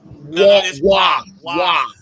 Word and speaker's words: Waugh: Patrick Ward. Waugh. What? Yeah, that's how you pronounce his last name.